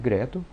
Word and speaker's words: GRETL: eu vou entrar aqui G TL que é a maneira como se escreve Greto achei o link aqui